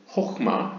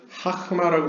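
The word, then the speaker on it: חכמה: 그 다음 두 번째 세피라는 이제 호흐마, 여기는 하흐마라고 써있는데 이것은 약간 과거 약간 동유럽식 유대인들이 쓰던 발음이고요.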